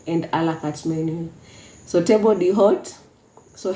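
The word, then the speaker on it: table d'hôte: Allah cards menu so table the hot so H is silent the body hot and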